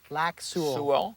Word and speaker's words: Lac Seul: Now, how do you pronounce a lake? Lac Laku. Su.